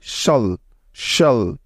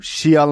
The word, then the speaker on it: cial: সময় সব জায়গায় হয় শল শল। মনে থাকবে তো? লক্ষ্য করো, এটার উচ্চারণ কিন্তু শিয়াল না বা শিয়াল না, ঠিক আছে? এই প্যাটার্নটির সঠিক উচ্চারণ হবে শল শল, ঠিক আছে?